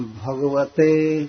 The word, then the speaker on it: भगवते: और भगवते ते पर रुकेंगे क्योंकि क्री क्री आधा क है।